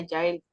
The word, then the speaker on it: Jael: Ah, parece como Jael, pero se pronuncia Yael.